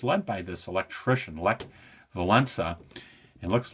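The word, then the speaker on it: Wałęsa: government and it's led by this electrician Le Valena it looks like wallisa and I always heard it pronounced in the in the where I was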